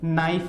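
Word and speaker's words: knife: है ए एन में के साइलेंट राहत है इसलिए हम इसको क्या बोलते हैं नाइफ बोलते हैं तो कन साइलेंट होता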